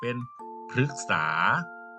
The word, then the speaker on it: พฤกษา: ก็ จะ เป็น พฤติกรรม มัน มี ตัว สะกด ก็ คือ ตัว กอ ไก่ แม่ กก ก็ คือ พอ หรือ เกาะ คึก ก็ เลย ออก เสียง เป็น พฤกษา พฤกษา กบ แปล ว่า